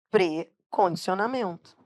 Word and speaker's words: precondicionamento: Quando eles são átomos, eles se aglutinam com o segundo elemento. Então, o certo é dizer precondicionamento. Por que que precondicionamento? Não tem ifen. Não tem ifen porque a pronúncia correta é pr.